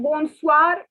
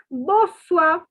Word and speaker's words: bonsoir: pen and note that here also the n is not to be pronounced and the r is not to be pronounced so it is okay see i don't know french is a different language not all the alphabets are to be pronounced so it is not bonsoir so like good morning